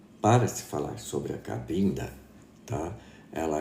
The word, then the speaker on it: Cabinda: e veio dizendo que esse negócio de cambina está errado. Eu falei, mas baseado no quê? Porque não é cambina que se escreve, é cabinda.